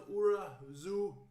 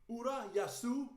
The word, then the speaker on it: Urayasu: That was good, but the first one was bad, man. Urayasu D-Rocks.